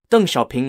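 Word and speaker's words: 邓小平: borchung spelled l-i-u-b-o-c-h-e-n-g and ping d-e-n-g x-i-a-o p-i-n-g UNG shopping later became the leader of the People's Republic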